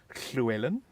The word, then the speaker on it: Llewellyn: If we would sort of pronounce it in the proper Welsh, it would probably be Llewellyn.